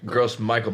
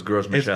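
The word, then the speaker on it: Gros Michel: In English, it's Gross Michael, but I think it's Gross Michel.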